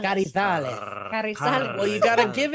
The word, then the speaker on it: Carrizales: Sid, I was gonna say I liked your pronunciation of my last name. You said Carrizales. Carrizales.